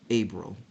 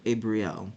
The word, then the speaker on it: Abriel: to Josias thius epison abil or abriel it can be pronounced either way which means my father